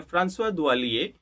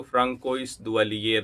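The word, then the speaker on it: François Duvalier: Okay, ये French pronunciation है, फ्रांसवा दुवालिये। और स्पेनिश में उसको फ्रांकोइस दुवालियर बोलेंगे।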